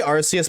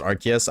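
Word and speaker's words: Arceus: I say Arus, but I know it's pronounced Archus.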